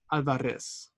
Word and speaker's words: Alvarez: our name to myself, opening my mouth wide for the organ blast of the A, trilling my tongue for the drum roll of the R. Alvarez.